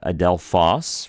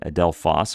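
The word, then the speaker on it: ἀδελφός: these so we have Adel fos right ad Del fos and we're trying to put a little more emphasis on that last syllable it's a little bit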